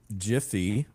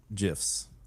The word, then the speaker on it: GIF: Um, so I would I thought it was supposed to be Jify and because it's fast like to grab one and like the it all goes together. It's all GIF and like everyone like I don't know. I don't know if I think they have taken a stance that it is gy, but I'm like